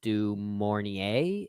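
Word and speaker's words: du Maurier: source material but I know its author Daphne dorier that's how you pronounce her name uh I could helped you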